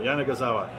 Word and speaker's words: Yanagisawa: we can go and I think it's five syllables yeah they got it I think we got it now Jana gazawa thank you very much